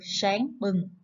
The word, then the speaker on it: sáng bừng: Các bạn lưu ý khi đọc tiếng sáng, chúng ta cần cong lưỡi về phía vòng họng để phát âm cho đúng.